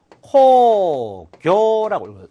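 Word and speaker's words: 興行: 흥행은 코교라고 읽을 수가 있습니다.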